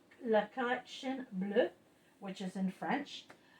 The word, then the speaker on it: La Collection Bleue: Yes, it's called La Collection Bleue, which is in French. La Collection, because you don't pronounce the N.